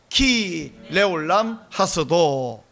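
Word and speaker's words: כי לעולם חסדו: 때문에 이런 뜻이거든요 그리고 그 히브리어 발음이 뭐냐면 키 키는 뭐 뭐 때문에 이래가지고 영어 because 키 그 다음에 르올람 레올람 이게 영원하다 줄여서 키 레올람 했어도 따라해 보시기 바랍니다 키 레올람 하스도 시작 키 레올람 하스도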